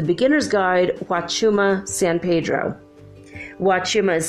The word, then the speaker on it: Huachuma: Huachuma is spelled with an H.